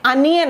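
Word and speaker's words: onion: की, ये क्या है, क्या ये ओनियन है, नहीं, ये अनियन है।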